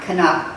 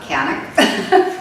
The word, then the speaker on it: Kanuck: Canick, M-A-R-L-E-N-E, pronounced. Canick, K-A-N-U-C-K, not Canuck, Canick.